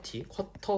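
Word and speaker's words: QWERTY: 알겠지 밴드 아니야 QT야 쿼티라 그래 쿼터 혹은 쿼티라고 합니다. 쿼티라는 말이 조금 더 잘 입에 붙는데 이게 영국식 발음으로 아마 하는 걸로 난 알고 있어요.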